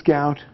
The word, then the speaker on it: gout: gonna avoid the gout why don't we pronounce it Gooch I don't know but it's goat all right a man's got